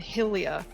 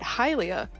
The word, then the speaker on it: Hylia: high school because they swore that it was pronounced hyrule and helia and i was like no it's hyrule and hylia get it right oh my god japanese and